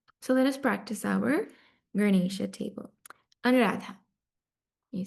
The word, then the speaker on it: Ganesha: Ganesham, Ganesham, Ganesho, Ganesho, Ganeshan, Ganeshan, Ganeshena.